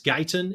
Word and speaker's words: Guyton: And to hear Kenny, I believe it's Guyton is the way you pronounce his last name. If not, I apologize, but I believe it's Kenny Guyton.